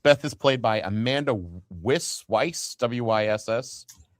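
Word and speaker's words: Weisz: Not WS. I would say Weiss in that situation.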